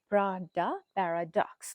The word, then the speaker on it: Prada Paradox: Prada Paradox, that's how you pronounce it.